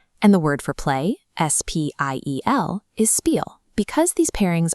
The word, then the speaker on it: Spiel: If it's paired with a P, they make a shp sound.